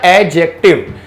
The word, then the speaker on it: adjective: की एक एडजेक्टिव एडजेक्टिव इसमें दी को हम साइलेंट करेंगे तो पढ़ेंगे क्या एडजेक्टिव तो एडजेक्टिव क्या करता